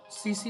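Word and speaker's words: tsetse: पहुंचाने का काम करेगा यह सीसी मक्खी टी साइलेंट है सीसी मक्खी आपके ऑप्शन है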